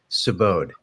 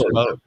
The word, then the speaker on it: Subodh: Subodh. It's rhymes. Subodh. It's like rhymes with abode, and the last name rhymes with tundra. So. Subodh.